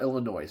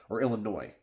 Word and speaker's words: Illinois: believe you forgot about Illinois and yeah I I know Illinois is it Illinois or Illinois I know you're not supposed to pronounce the S maybe I forgot I'm